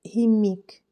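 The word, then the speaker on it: qimmiq: l'ordre à noter que kimique est prononcé prononcé himik qui signifie chien à la langue des inuites depuis 5000 ans les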